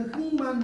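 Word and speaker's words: 흙만: 있는데 자 여기 많이 붙었어 만약에 많이 붙으면 발음할 때 흥만 잖 흥만 해요 흥만 이걸 흙은 만 이렇게지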